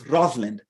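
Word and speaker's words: Rosalind: and by the way it's Rosland like two syllables Rosland I learned this from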